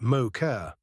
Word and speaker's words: MOCR: They called it the MOCR, pronounced mocker.